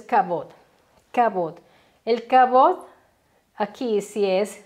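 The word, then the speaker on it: כבוד: encontrar así Gloria y en hebreo la pronunciación es lo que nos importa que es kabot el kabot aquí si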